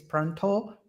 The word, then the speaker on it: Pranta: So I know that the way that he pronunciates is Pronto, but it's not an O at the end, it's an A.